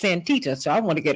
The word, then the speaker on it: Santita: it's not my girl my name is not Santina it's antita so I want to get it right no